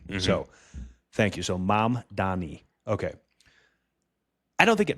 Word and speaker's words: Mamdani: Don, Don, E, Mamdani. Mamdani.